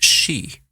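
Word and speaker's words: sidhe: for Fairy is she it's spelled s-i-d-h-e and it's pronounced she and this translates to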